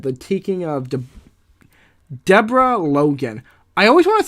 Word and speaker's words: Deborah: I always want to say Deborah, because if you look at the way that most people spell Deborah, it looks like Deborah. And I'm just like, why don't we enunciate it with 3 syllables? Because is the O silent? Who even makes a vowel silent? I say even though phonetically the E in my name is silent, but like, who even makes an O silent?